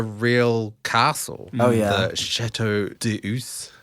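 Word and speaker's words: Château d'Eu: The Chateau d'Eus.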